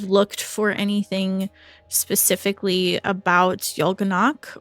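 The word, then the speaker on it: Y'Golonac: for anything specifically about Yolganak, or is that how you say it? Igolanak. Igolanak, yeah.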